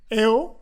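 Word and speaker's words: Heau: Esta Catalina, bueno, su nombre real francés es Catherine Eo, se escribe H-E-A-U. En francés la A-U suena O, la O nuestra, Eo.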